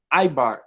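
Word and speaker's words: עבר: But Hebrew itself, in Hebrew, is Ibar, right?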